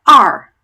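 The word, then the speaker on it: 二: Number 2, we don't have an equivalent sound for in English. It's pronounced R, R, R. So some people think it's a little bit like how a pirate might sound.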